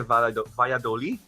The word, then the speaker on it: Valladolid: who is a graduate of the Universidad de Valladolid is that how you pronounce that and that's right yeah where he